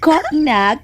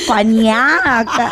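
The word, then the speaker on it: cognac: Sa ako niya giingon, well, ang word koknak is a French word. Bet, kung imo na i-pronounce, mahimo ng konyak.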